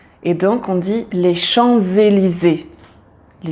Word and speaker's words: Champs-Élysées: voyelle qui suit après on prononce le S ensemble avec la voyelle et il a un son de Z et donc on dit les champs élysé les ChampsÉlysées on prononce tout en